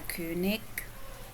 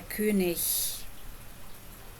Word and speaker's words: König: Whenever a German word ends in ig, like this one here, you can pronounce it like I just did. You can say der König. But in some regions people will say der König. And both ways are perfectly acceptable.